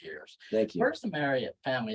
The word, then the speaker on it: Marriott: It's Marriott, not Marriott. Oh, okay. It's Marriott, like chariot.